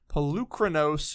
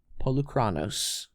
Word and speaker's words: Polukranos: My number 7 is Pelucranos Reborn. No, say it right. Polukranos.